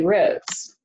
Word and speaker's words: Rhoades: Now, my name is Rhoades, and it sounds pretty normal, but both of those names are spelled kind of non-traditionally. For instance, is spelled K-A-R-I, and Rhoades is R-H-O-A-D-E-S.